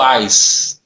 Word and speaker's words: Houaiss: dicionário houaiss é o se escreve com h a wise para mim os melhores dicionários se não melhor da língua portuguesa o pronúncia dele é o ares é o dicionário que